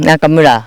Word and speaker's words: Nakamura: Pronounce is so when I talk of Nakamura it's just the same way you pronounce in Japan. Nakamura.